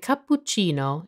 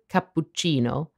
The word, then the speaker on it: cappuccino: the authentic italian pronunciation the biggest difference is that english people fail to properly pronounce the double consonants in the word cappuccino it just so happens